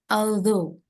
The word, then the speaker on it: although: although it was late although bacanya alzo alzo Heeh alzo ghnya itu enggak dibaca g-nya silent ya Oke jadi although although